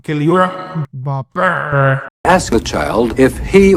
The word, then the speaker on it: Kylian Mbappé: And then Kylian Mbappé, well, let's pronounce it right. Kylian Mbappé. Right? That's how you pronounce things in French, right?